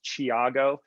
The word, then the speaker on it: Thiago: my name spelled out it's t-h-i-a-g-o but it's pronounced chiago it's a brazilian name so it's been butchered